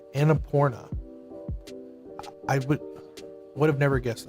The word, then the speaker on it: Annapurna: It's Annapurna. That's the name of the company. Could they make that a little bit easier to pronounce? I had literally had to Google how to pronounce that. Annapurna. Annapurna.